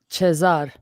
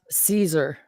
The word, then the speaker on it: Caesar: in the chat chazars that's what Caesar would be pronounced chesar not Caesar it would be literally pronounced chesar maybe but this is